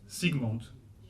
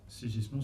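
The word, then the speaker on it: Zsigmond: Comment vous dites? Sigmund. C'est vrai. Aussi simplement. Sigmund. Sigismond, ça va pas du tout.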